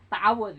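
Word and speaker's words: تعوذ: Ta'awudz ya bukan ta'awud. Waktu kecil mah bapak juga ta'awud nih, dah masyarakat bilangnya ta'awud, padahal yang benar mah ta'awudz atau isti'azah, ada dua namanya ya.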